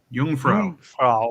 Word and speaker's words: Jungfrau: In German, the word for virgin is also, how do you pronounce that? Jungfrau.